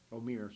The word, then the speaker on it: Omier: wrong, but you can tell me how to pronounce 15's name. Omir.